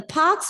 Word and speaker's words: parks: Once upon a time in 2020, the parks, so here the R is silent, the parks were shut and the schools, many of you are reading the word as school.